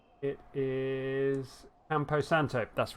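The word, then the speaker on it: Campo Santo: want to say it right it is empo Santo that's right yes it was just the tip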